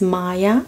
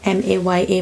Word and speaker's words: Maya: and somebody asked me how to pronounce my name. My name is Maya, M-A-Y-A, Maya.